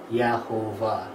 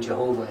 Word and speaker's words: Jehovah: you read that ially it says yahovah which isn't the way that the old Val is pronounced in Jewish scripture but that's how we get the name Jehovah in English and that's why it's a j also because you know